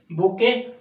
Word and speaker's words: bouquet: बुके, गुलदस्ता बोलने में, प्रोनाउंसिएशन में थोड़ा सा BOUQUET बनता नहीं है। प्रोनाउंसिएशन जो हिंदी भाषी राष्ट्र हैं, हिंदी भाषी व्यक्ति हैं, उनके लिए बड़ी दिक्कत होती है।